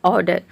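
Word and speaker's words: order: है consonant sound है इसलिए हम यहां पे आर को साइलेंट रखेंगे आर को प्रोनाउंस नहीं करेंगे ऑर्डर नहीं इसको बोलते हैं इसको बोलते हैं ऑर्डर ऑर्डर मेंस होता है आदेश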